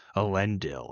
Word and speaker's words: Elendil: it's a D. That's not an O. I was trying to say it like it was an O. I think you're right. Elendil.